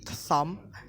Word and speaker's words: thumb: The B is not pronounced, and then we have silent after M. Climb, crump, lamp, thumb, dump, plumber.